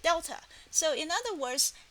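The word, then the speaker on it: Δ: In other words, the triangle is pronounced at delta.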